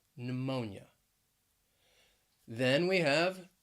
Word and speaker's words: pneumonia: couple of words that begin with a silent p and both of these words have three syllables so the first one is pneumonia pneumonia that stress is on that second syllable pneumonia then we have pseudonym